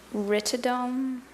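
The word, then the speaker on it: rhytidome: Ritome. Ritome. Rtoidome. Is that the only pronunciation?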